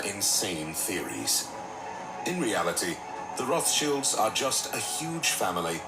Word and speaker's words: Rothschild: I was saying it wrong. Rothschild, I was saying. Rothschild.